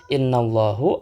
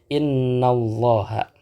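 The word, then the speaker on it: إن الله: Jadi nggak mungkin kita membacanya innallahu atau innallahi. Tidak mungkin kita membacanya dengan harakat dhammah atau dengan harakat kasrah. Melainkan kita akan membacanya dengan innallaha.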